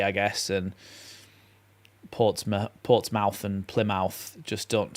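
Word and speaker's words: Portsmouth: over time Isaac is people have called it MTH rather than mouth because it's easier to say I guess and ports ports mouth and Plymouth just don't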